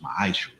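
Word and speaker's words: מעשר: It means 10th in the Hebrew, and it's pronounced ma'ashra.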